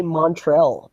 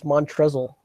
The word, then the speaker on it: Montrezl: They always say Montrell, but I always think it's Montrezl.